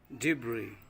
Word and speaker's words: debris: vegetable T cupboard cupboard debris okay is is silent debris debris B Berry it's not